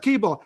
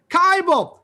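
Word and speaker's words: Kibel: sharon moskowitz and bernice natalson today's guest seth cable am i pronouncing that right uh that's close it's bible kybel you know thank you like liable that's very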